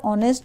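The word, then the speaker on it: honest: से हो रहा है एच यहां पर हिडन है आवर ऑनेस्ट दोनों में एच का प्रोनंसिएशन हिडन है साइलेंट है और ओ से हमारा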